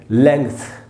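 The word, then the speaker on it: length: तो लेंथ नहीं होगा दोस्तों। थ के पहले बीच में आधा ग लगाना है। पढ़ेंगे लेंथ। लेंथ ये इसका शुद्ध उच्चारण है।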